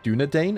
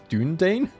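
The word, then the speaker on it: Dúnedain: in a previous series I always pronounced dunadan as dunan and I didn't believe someone when they corrected that that if that was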